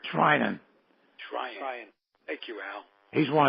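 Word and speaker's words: Treinen: They went to I can't pronounce his name. Trinan.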